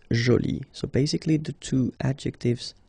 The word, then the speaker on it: jolie: So you can see that you put this but then you don't pronounce it. Okay? So it's jolie.